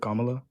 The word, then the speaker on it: Kamala: How do you pronounce it? Kamla.